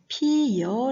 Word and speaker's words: 피어: 합니다 예를 들어 보겠습니다 피어 피어 는 우리를 반적으로 per 하고 발음 하기도 하지만 피여 라고 발음하기도 합니다 피어 로 발음되는 것에는 특별한 음운 변동 현상이 나타나지 않는 것이고요 피여 로 발음 됐을 때는 어가 여 로 바뀌어져 소리가 나는 거죠 11 은 소리는 이중